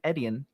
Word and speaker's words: Etienne: running back than Travis Etienne. How do you pronounce that name? Just think of it as letters. The letter E, the letter T, and then the letter N.